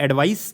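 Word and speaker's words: advice: तो जब वर्ब के तौर पे यूज़ हो रहा है तो एस ई होता है। एडवाइज ज़ मतलब हम लास्ट में प्रोनाउंस करते हैं। और एडवाइस जो है जहां पे सा होता है वो that is ए डी वी आई सी E. This is noun. तो ये चीज ध्यान रखना है।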